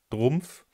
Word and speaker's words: Drumpf: bzw. deutsch ausgesprochen "Drumpf". Und das klingt in amerikanischen Ohren natürlich witzig, vor allem natürlich das /pf/ am Ende.